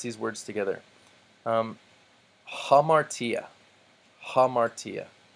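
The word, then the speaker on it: ἁμαρτία: ace hey road ace notice I'm not saying I'll Marcia or boss or a road ace but I'm putting the H sound at the beginning because the rough breathing mark tells me to hamartia means sin hippos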